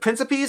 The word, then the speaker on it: Principe: Then we have Prince Principe, I think it's pronounced princip. I could be mistaken from Leo Soliv.